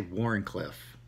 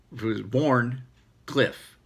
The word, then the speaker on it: Wharncliffe: And when I say Wharncliffe, I say Wharncliffe because it's just my pronunciation. So he sent me a text and it was like, Wharncliffe. Say it with me. And so I went through it, but it was, he did, you know, Cliffe.